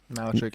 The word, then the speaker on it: Malarchuk: Is that how you pronounce the name? Malarchuk? Malachuk, yeah. 1989.